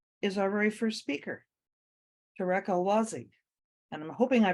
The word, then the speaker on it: Tarek El Wazzi: Next up on our agenda is our very first speaker, Tarek El Wazzi. And I'm hoping I pronounced your name right.